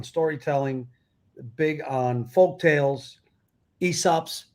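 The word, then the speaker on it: Aesop's: big on folk tales esops tails they come from a time period where you mean that guy where the a is silent yes so i see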